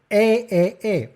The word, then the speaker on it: et: That's how you say and in French. E. And don't ask me why, except for, and that really makes me mad with such a delicate aria, that most tenors, instead of saying E de tristesse, they say I de tristesse.